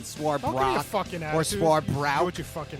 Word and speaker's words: Swarbrick: Number 6, Notre Dame Athletic Director Jack Swarbrick. Did I pronounce that right? It's not Swarbrock or Swarbrick.